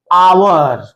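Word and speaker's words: hour: honourable honourable president कुछ ध्यान दीजिएगा एच से शुरू है सब का सब एच से शुरू है और एच किस में आएगा कसोनेंट में लेकिन इसका जब उच्चारण हम करेंगे तो उच्चारण का मतलब लिखिए इसको आवर इसे एयर इसे ऑनेस्ट इसे ऑनरेबल और ध्यान देने वाली बात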